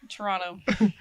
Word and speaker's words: Toronto: alone on the streets of Toronto don't pronounce the second tea local fit as we the north side Toronto um Toronto but yeah